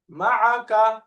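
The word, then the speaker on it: معك: হ্যাঁ, মিম ফাতহা মা, এরপরে আইন ফাতহা আ, দুইটা মিলাইলে মা। এবার 3 নম্বরটা মিলান, কাফ ফাতহা কা, একসাথে মাআকা, মাআকা।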